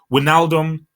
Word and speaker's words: Wijnaldum: My Dutch amigo told me how to pronounce it. Wijnaldum was great again.